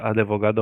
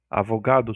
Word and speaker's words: advogado: A pronúncia advogado é um erro de ortopépia. Demudo? Aonde que o demudo aqui? Advogado. Advogado. Avogado seria demudo.